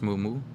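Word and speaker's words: muumuu: It's pronounced moo-moo. All races where I'm from wear them.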